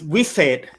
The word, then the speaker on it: Wisate: It's Wisate. That's how you pronounce okay.